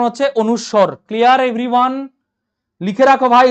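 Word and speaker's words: অনুস্বার: বলো এটার উচ্চারণ কি বলো সবাই দেখি এটার উচ্চারণ কি অবশ্যই এখানে বলবে অনেকে অনেস্কার অনেকে বলবে এটা অনুষ্কার ঠিক আছে এটাকে অনেকে বলবে অনেস্কার অনুষ্কার ঠিক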